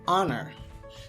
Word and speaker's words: honor: For article an hourglass, an honor. We use an here, though it begins with a consonant because the H is silent, so we only hear vowel O sound.